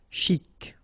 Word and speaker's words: chic: Chic. Okay, you pronounce the final C and then CH together. Sh. Chic.